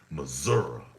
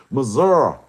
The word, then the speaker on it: Missouri: That's how I learned it's pronounced Missouri. Missouri, tell me I'm right. You can't planet wide. Tell me it's pronounced Missouri. Tell me I'm right. Everyone outside the borders is gonna call it Missouri.